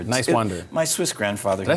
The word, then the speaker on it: Niswander: Talking to Nowman Niswander. But it's Niswander. just think nice and wander. Niswander.